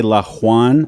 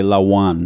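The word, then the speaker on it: lahuán: that's how it's pronounced I wouldn't say laan I would say Lawan laan this is a Lawan it's if it was a j it would be Juan H okay the name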